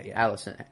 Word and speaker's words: Alicent: Or Otto sees how close Rhaenyra and Alicent, is that how you say it? Yeah. Alicent, how close they are, and then he uses her to manipulate Rhaenyra.